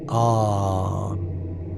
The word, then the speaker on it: An: An is pronounced as a single sound, An, with the N held as a long nasal hum.